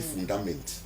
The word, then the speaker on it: fundament: Maintenant, ça se dit fundament. Fundament. Oui, il faut prononcer le T.